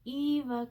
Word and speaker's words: Eva: so this is the eva cardigan and i have to say eva like wally so i remember to say it correctly um this is by